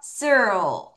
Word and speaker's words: circle: 마지막에 앞니 뒤에다 혀 붙이세요.